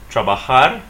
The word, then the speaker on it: trabajar: and stress it right trabajar is not conjugated it's infinitive form not finished so it means to work notice that we're stressing the last syllable on this this uh